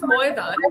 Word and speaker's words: Maidan: Yeah, is Maidan, and in Bengal only the pronunciation changes. So in yeah, Bangla we will say Maidan, yeah, because we becomes o in yeah. Bangla. Right. So it is Moedan, but when I'm writing